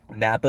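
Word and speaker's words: Knappa: to uh everyday Napa Napa is spelled k-n-a-p-p-a every day Napa it's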